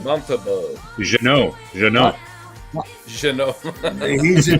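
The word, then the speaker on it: Montembeault: pronounce his name? Montembeau.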